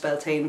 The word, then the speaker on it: Bealtaine: But fire, because the Bealtaine is one of the, also pronounced Bealtaine, but actually Bealtaine is the correct Irish pronunciation of it, the original pronunciation, and it is the